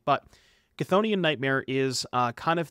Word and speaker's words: Chthonian: sing notably most notably chthonian okay I keep saying this wrong it's cthonian Nightmare and I apologize for saying it wrong in the past and I'm going to try my best to to train my brain to say it correctly but konian nightmare is